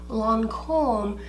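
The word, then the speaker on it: Lancôme: I know well and good that Lancome is pronounced Lancome, but I just can't do it.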